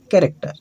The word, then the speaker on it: character: वो च ही होगा, कभी कभी सी एच में भी क उच्चारण किया जाता है। जैसे एक वर्ड है कैरेक्टर, CHARACTER, इसको कहते हैं कैरेक्टर, जिसको चरित्र कहते हैं।